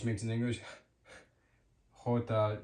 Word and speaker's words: jota: E, next up, J is jota, jota, jota. And this letter jota makes the sound like an H would in English. So the sound that H makes in English Jota, J makes in Spanish Jota.